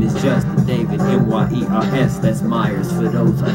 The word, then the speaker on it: Myers: My name is Justin David, M-Y-E-R-S. That's Myers. For those, I just spell it because you might not type it right.